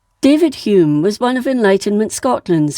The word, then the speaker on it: Home: Edinburgh, to Joseph Hume, spelt Home, but pronounced Hume, of Churnside near Duns in Berwickshire, an advocate, and his wife Catherine Faulkner.